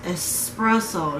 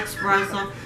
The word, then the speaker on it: espresso: it wrong didn't i it's espresso not expressive yes it is i do it all the time sorry all right so chapter 15.